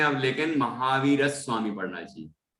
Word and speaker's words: महावीर स्वामी: संयुक्त अक्षर होता है वहां उस पर जोर आता है, ये संस्कृत के पढ़ने का नियम है। तो यहाँ पर और आधा सा और वाह आया ना, ये संयुक्त हो गया, तो महावीर स्वामी।